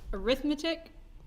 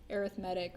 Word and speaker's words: arithmetic: Now, you may try to pronounce this as arithmetic whenever you're doing this, but if it is paired with sequence, we typically say arithmetic or something like that.